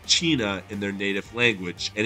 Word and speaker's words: cena: Any Italian speakers would have noticed an additional layer to the joke too, because Cena is pronounced Cina in their native language, and it actually means dinner.